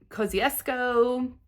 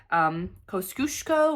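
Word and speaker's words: Kosciuszko: Now, the CC pronunciation on the app, like they say Kosciusko or something like that, but from what I read and looked in some of the comments of some YouTube videos, they said that is not the Australian pronunciation. Since the mountain is in Australia, I tried to do the Australian pronunciation, which I believe is Kosciusko.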